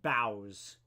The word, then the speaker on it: boughs: You said boughs. Uh, it's just bows like boughs. Bows. He bows to the king. It's pronounced kind of like that, I believe.